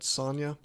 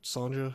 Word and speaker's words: Sonja: We're going to start off with something called Red Sonja, or Red Sonja if you prefer. I assume that's pronounced with a Y.